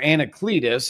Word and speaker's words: Anacletus: Now if it is anaclletus or anacletus as we pronounce it now that Greek word uh has a little bit new idea to it.